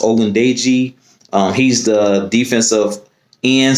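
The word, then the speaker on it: Ogundeji: call him uh but his last name i believe is pronounced odin day g um he's the defensive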